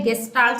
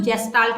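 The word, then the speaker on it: Gestalt: ठीक है, बिहेवियरिज्म के बाद जो नेक्स्ट स्कूल ऑफ साइकोलॉजी है वो है गेस्टाल्ट साइकोलॉजी, कुछ लोग इसको जेस्टाल्ट भी बोलते हैं, तो ये प्रोनाउंसिएशन का डिफरेंस है।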